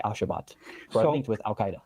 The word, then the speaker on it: Al-Shabaab: By the way, did you notice he mispronounced Al-Shabaab as Al-Shabaat?